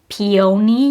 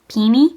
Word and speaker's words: peony: saying that I say peony wrong cuz I pronounce it like peony, you know, which is like how it's spelled, but apparently it's pini.